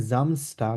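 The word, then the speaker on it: Samstag: ডাটাগ ফ্রাই ডাটাগ জামগ কারণ আমরা গতকালকে আমরা শিখেছি এস কে আমরা কিসের মত উচ্চারণ করব জেড এর মত উচ্চারণ করব ঠিক আছে মানে জ এর মত উচ্চারণ করব তাহলে কিভাবে বলবো আর সেট কে আমরা এস এর মত উচ্চারণ করব একটা হচ্ছে একটা অপোজিট তাহলে কিভাবে বলবো এটাকে জামসটা কারণ কে আমরা জেড এর মধ্যে উচ্চারণ করলে কি হবে জামস্ট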